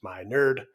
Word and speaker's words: Minard: podcast my name is Dr Minard pronounced my nerd and I am honored